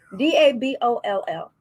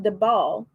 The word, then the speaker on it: Daboll: How do you pronounce that? Daboll.